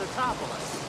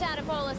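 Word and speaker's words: Tatopoulos: Nico Totopoulos. It's Totopoulos. How did Mrs. Tadopoulos handle that? It's Totopoulos.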